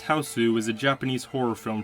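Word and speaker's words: Hausu: House, pronounced Houseu, is a Japanese horror film from 1977.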